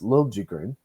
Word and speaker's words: Liljegren: And like he's a good skater, but he's just in the same sense of Liljegren, or sorry, as he's now pronounced as Liljegren.